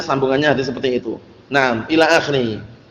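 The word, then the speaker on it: إلى آخره: Nah, ila akhiri. Ini bacanya bukan al-akh itu ya. Ila akhiri ini.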